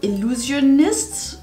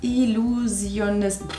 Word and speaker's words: Illusionist: nicht den kennt er heißt the Illusionist uh das war ganz falsch ausgesprochen Illusionist okay so heißt er das coole ist